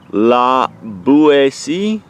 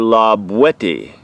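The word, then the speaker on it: La Boétie: as might be thought la boue see oh wow lacy is not right but rather lob wet E with the hard T as it was pronounced in the Perigord dialect of the region in which love what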